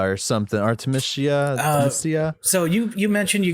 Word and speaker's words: Artemisia: say artemis but that's a dc character it's artemisia or something artemisia so you you mentioned you get an aquaman